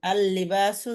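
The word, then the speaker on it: اللباس: আল লিবাসু, যদিও আমাদের মনে হচ্ছে লামে তাসদিদ, কিন্তু এক্ষেত্রে এটা এক নম্বরে, ঠিক আছে?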